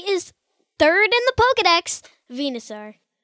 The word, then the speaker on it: Venusaur: The Pokemon we are discussing today is third in the Pokedex, Venusaur. It's spelled V-E-N-U-S-A-U-R and pronounced V-N-A-S-A-U-R.